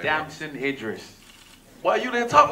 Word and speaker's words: Damson Idris: Damson Idris.